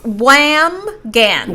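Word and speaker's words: Wambsganss: Uh Wans. No, it's supposed to be It's supposed to rhyme with lambs. So, Wham Gans Wham Gans.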